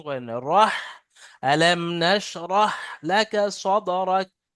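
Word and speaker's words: نشرح: sorry আলাম লাকাটা আছে এখানে নাস পড়লে ভুল হবে নাস পলে সিন উচ্চারণ হয়ে যাচ্ছে যেটা নুক্তাবিহীন সিন কিন্তু আছে এটা নুক্তাওয়ালা তালবে মোটা আনটির মত আওয়াজ হয় ওটা সিন হয় দন্তে আলাম না বড়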